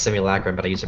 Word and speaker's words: simulacrum: learned that simulacrum is a I Learned was pronounced simulacrum but I used to pronounce it simulacrum simul yeah one one of the big like